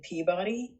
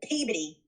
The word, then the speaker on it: Peabody: the like automated recording that's not how they say it no they automated recording spoilers from the boston lady she's like thank you for calling i'll take it peabody so the last time i visited my cousins the o drops off and almost becomes an r yeah and i was